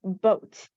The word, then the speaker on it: boat: a t that is boat now wait a minute that o does not sound like ah right it's O because the O eight makes the o sound ah we learned something